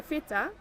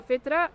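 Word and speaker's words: فطرة: Yeah, the fitra. The fita. Did I say it right? Yeah. Okay. That is in us. That is a good indicator. If you've lost your fita for some reason, Fitra. fitra, Yeah.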